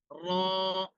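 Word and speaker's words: ر: আমরা অনেক সময় উচ্চারণের সময় মুখটাকে গোল করি, যে মুখের সাথে মনে হয় র এর সম্পর্ক। মুখের সাথে র এর সম্পর্কে এই ধরনের চিন্তা করে আমরা কি করি, মুখটাকে গল করি, অনেক ধরনের আমরা ঠোঁটকে মানে আঁকা বাঁকা করি, কিন্তু রর সাথে ঠোঁটের কোনো কাজ নাই। আমাদের র এর যে মাখরাজ সেখান থেকে র উচ্চারণ হবে, ঠোঁটটা স্বাভাবিক থাকবে।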